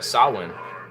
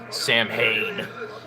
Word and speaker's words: Samhain: / Celtic event of sahlan or if you're an uneducated American Samhain the Samhain I like how I